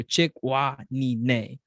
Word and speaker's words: Chikwanine: So the sound a horse makes, so chick, wah, knee, neigh.